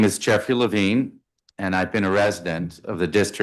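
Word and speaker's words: Levin: uh you know the big ocean, so it's pronounced Lavine but spelled without an E. Got it. Chairman Mendelsson, members of the committee, thank you. My name is Jeffrey Lavine and I've been a resident of the District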